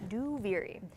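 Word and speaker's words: Duviri: saying out loud is a that's how you pronounce it by the way do viri and then then after the sound panel uh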